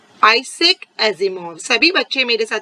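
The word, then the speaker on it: Isaac Asimov: बच्चों हमने स्टार्टिंग में ही डिस्कस किया, उसके ऑथर हैं आइजैक एजिमोव। आइजैक एजिमोव, सभी बच्चे मेरे साथ प्रोनाउंस करेंगे, आइजैक Asimov.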